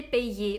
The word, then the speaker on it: payé: Произносим вместе «се пейе», улыбка «се пейе», «балее», «ублие». На конце «е», «е», «е».